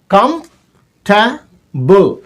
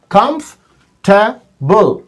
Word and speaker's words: comfortable: लेकिन जब नेटिव बोलता है तो बोलता है कंफर्टेबल, comfortable. There are 3 syllables here. Comfortable, right?